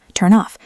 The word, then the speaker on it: turn off: The N in turn links to the O in off, turn off. It sounds like one word.